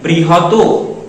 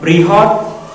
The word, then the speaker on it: বৃহৎ: করে না বলে কৃপণ এটা যেন না বলে বৃহত এটা যেন না বলে পৃথক এটার শুদ্ধ উচ্চারণ কি হবে কৃপণ এটা বৃহৎ এটা পৃথক এবং নিচে চলে আসুন দেখুন এখানে